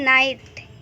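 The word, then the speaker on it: night: दूसरा है नाइट, तो यहाँ पे भी जो जी एच है वो साइलेंट है।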